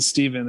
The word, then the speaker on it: Stephen: to clarify that yeah steph curry really ruined the pronunciation of my name i've always been stephen and steph curry became a superstar and now everyone's like every time i go to starbucks is stefan here stefan did you get